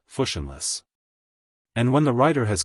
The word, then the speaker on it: fushionless: That word is fushionless, pronounced fushionless.